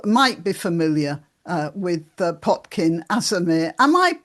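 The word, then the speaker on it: Potkin Azarmehr: some of you might be familiar uh with Potkin Azamir. Am I pronouncing your name properly right?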